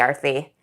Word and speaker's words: Aarti: and I was like actually arthy only I called myself Arty back then I didn't know how to pronounce my own name I was like actually